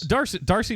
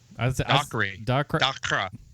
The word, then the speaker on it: Dacre: Darcy Montgomery, DACRE. Dacre Montgomery.